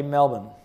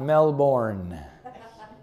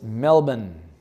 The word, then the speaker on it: Melbourne: you how to say Melbourne. It's not Melbourne. As it's spelled. It's Melbourne. It's not Melbin, like some kind of a bin, but it's Melbin, like Benjamin. Melbourne. Okay? And you say it fast.